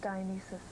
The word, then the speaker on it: Dionysus: It's pronounced Dionysus.